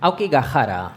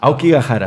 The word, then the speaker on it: Aokigahara: Aokigahara. Aokigahara. La H en Japón la pronunciamos como J. Como J, así aspirada, ¿no?